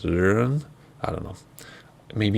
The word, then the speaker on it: Rønne: I'm pretty sure it's Rønne, R-O/N-N-E, Denmark. That O/ pronunciation. I have a child with an O/ in his name. And depending where you're from in the region, sometimes it's just a regular O.